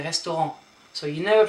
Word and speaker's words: restaurant: You don't say restaurant but you say restaurant.